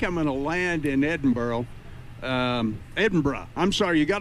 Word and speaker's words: Edinburgh: You got to kind of get that little burr off the end of it.